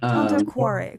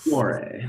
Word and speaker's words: Tanto Cuore: It's not Tanto Cuore. Tanto Cuore. Cuore, like a W Yeah, in my it's face. Cuore.